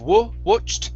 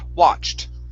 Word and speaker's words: watched: watched um right here instead of watched it's watched what good nice job uh